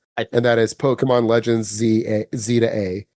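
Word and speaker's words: Z-A: that is Pokemon Legends Z to A. It's pronounced Z2A is because you're going from Z. You're going from rank Z up to rank A.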